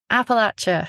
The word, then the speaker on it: Appalachia: He explained that the way you remember how to say it is it's as if someone threw an Appalachia. Appalachia.